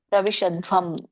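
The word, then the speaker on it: प्रसविष्यध्वम्: ಒಡೆಯ ಅನೇ ಪ್ರಸವಿಷ್ ಶದ್ಧವಂ ದೊಡ್ಡದ ಇದೆ ದ್ವ ಇದೆ ದ್ವಂ ದ್ವಂ ಅಲ್ಲ ಧ್ವಂ ಪ್ರವಿಷದ್ಧ್ವಂ ಅಂದ್ರೆ ಸಮೃದ್ಧಿಯಾಗಿರುವಂತದ್ದು ಪ್ರಸವಿಷ್ಯದ್ವಂ ಅಂತಂದ್ರೆ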